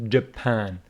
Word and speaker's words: Japan: this word it is Japan Jaan with a stress on the second syllable okay Japan in Argentina